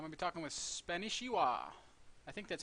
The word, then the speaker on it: Spanishiwa: So, it's Spanishiwa. Spanishiwa. I suspected it was like that because you told me it was like a play on Yeah, Konnichiwa.